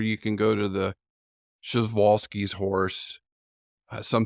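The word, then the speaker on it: Przewalski: can go to the shal's horse some say pralis but shalis is is the proper polish pronunciation but if you just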